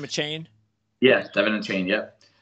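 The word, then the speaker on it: Achane: Is that how you pronounce his name, a Chain?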